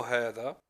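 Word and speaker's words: هذا: La kalimat, le mot hada, on le prononce hada, avec un med.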